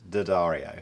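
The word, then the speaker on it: D'Addario: these are very nice according to the people it is pronounced didario I don't care uh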